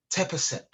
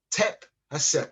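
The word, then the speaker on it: Tep-Heseb: Diop created an African methodology that he encouraged, and it's called Tep-Hesep. Tep-Hesep, and it's spelled T-E-P-H-E-S-E-B. Tep-Hesep.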